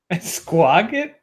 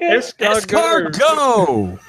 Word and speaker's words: escargot: Esquagget? What? Esquagget? Escargot. Then why does... Oh, this is a wrong pronunciation.